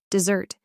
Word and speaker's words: dessert: That is, it sounds the same, but it's spelled differently from this word, dessert, 2 S's, but it's still pronounced Z.